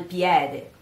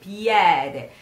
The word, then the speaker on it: piede: In the north, there are in certain words that are pronounced with E, with E, very like that, like piede, lieta, while in the south, they say it much correct, which is lieta, piede.